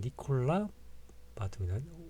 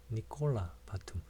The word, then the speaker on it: Nicolas Batum: 보면 니콜라 바툼이다. 오, 툼 여기에 강세가 있고요. 니콜라 바툼. 프랑스어는요 마지막 자음을 생략을 하는 경우가 굉장히 많습니다. 니콜라스가 아니라 니콜라예요. 그래서 s를 묵음으로 처리를 합니다.